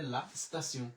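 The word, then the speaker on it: la station: তে ই ও এন আমাদের এখানে হয়ে গেল সিউ, তাহলে লা স্তাসিউ, লা স্তাসিউ, লা স্তাসিউ।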